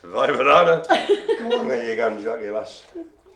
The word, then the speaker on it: Weimaraner: Weimaraner. So it begins with a W, you know. Pronounce V in the old Teutonics.